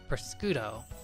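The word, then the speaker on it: prosciutto: It's pronounced priscudo.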